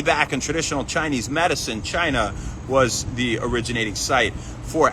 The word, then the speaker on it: Qi: Um, and they and they try to stimulate these points and access your chi, spelled Qi, pronouncedqi.